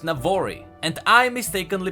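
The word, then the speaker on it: Navori: but the region where the Presidium is is pronounced Navarre II and I mistakenly pronounced it never I I just want to make sure that those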